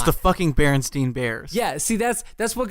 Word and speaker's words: Berenstain: In currently, and I guess for all time, it's been the Berenstain, I guess is how you pronounce that. Mm-hmm. It's AIN, which just had me kind of taken aback and started digging into it.